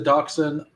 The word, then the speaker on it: Dachshund: We got the I believe it's pronounced the Dachshun. Not what it reads like to me, but maybe I'm wrong.